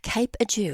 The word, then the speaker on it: Cape Adieu: let's just stay with, am I saying it right? I should have checked. Cape Adieu, is that correct? Correct, is that yeah, the correct Cape pronunciation? Adieu. I'm glad Yes. I got that right.